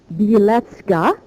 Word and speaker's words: Bielecki: Ireland with this name it's a Polish name and in Polish it would be pronounced beleta and you see the similarity